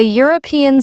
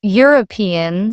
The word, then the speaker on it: European: We say a European city because European starts with a Y sound, but an honest answer because honest begins with a silent H and a vowel sound.